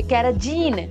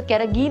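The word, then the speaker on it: carrageenan: तो जहां पे जीन आ गया ना पीछे, कैराजीन, वैसे कैरागीन होता है उसका प्रोनाउंसिएशन, लेकिन याद करना है अपने को अभी।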